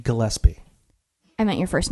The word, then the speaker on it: Gillespie: so it's Gillespie. It's a hard G.